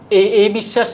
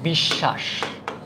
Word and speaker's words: বিশ্বাস: যেই কারণে এইটা হচ্ছে বিশ্বাস বিষ অউচ্চারণ হয় না একটা হসন্ত যেরকম বলেছিলাম অউচ্চারণ না হলে হসন্ত হবে আ উচ্চারিত হয়েছে তাই